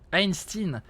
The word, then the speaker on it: Einstein: Einstein. Les Américains ils prononcent vraiment Einstein, Einstein. J'ai jamais compris pourquoi ils prononcent Stein comme ça. C'est Stein bordel.